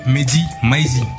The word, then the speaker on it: Mehdi Maizi: Cette semaine, on reçoit monsieur Mehdi Maizi. Comme ça se prononce?